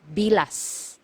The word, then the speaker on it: bilas: this one MGA hiala you have to pronounce the letter S at the end because if you mispronounce it nearer to letter T it is actually it actually means the private part of a woman okay so make sure you pronounce the letter s it should be bilas okay next one illegitimate